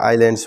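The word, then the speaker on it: islands: मैंने यहां बताया था यहां एस साइलेंट है ये बोला नहीं जाता आइलैंड्स बोला जाएगा ये ध्यान रखना तो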